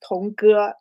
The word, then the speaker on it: Tong Ge: My name um pronounced as Tongu. The second one is a bit harder for English English speakers.